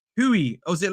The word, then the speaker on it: Guiu: I'm pretty sure the G is pronounced like H. Hui.